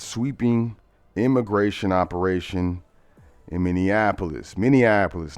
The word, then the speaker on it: Minneapolis: Minneapolis, not Minianapolis. It's not Minianapolis. Minneapolis.